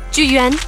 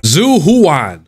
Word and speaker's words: Zhu Yuan: Officer 148, Zhu Yuan, ready. Zhu Yuan? Yeah, I said it right. Zhu Yuan.